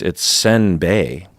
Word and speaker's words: senbei: to me to be simbe, and I was like, "Oh, simbe." And my friend's like, "So what did you say?" I said, "Simbe." He's like, "No, it's senbei." Oh. Both syllables are wrong.